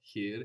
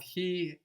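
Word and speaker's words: χι: Actually we see this in the name of this letter which is he. So you can see it's softer there. The letter he.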